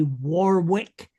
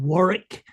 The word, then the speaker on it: Warwick: I find it disturbing that after 26 years people still say Warwick instead of Warrick.